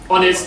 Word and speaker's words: honest: However, sometimes words start with an H, which is silent H, right? Honest or hour, we say an hour, an honest man.